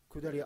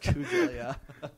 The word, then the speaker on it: Kudelia: We had the client, Cordelia Iron-Bernstein. I get that name wrong every time I say it. Kudelia. Kudelia.